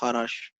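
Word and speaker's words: Kharasch: नाम था एम एस हराश pronunciation इसका हारा शो होता है वैसे के साइलेंट होता है इसमें बट आप इंग्लिश में ज जैसे पढो उससे कोई मतलब नहीं तो बेसिकली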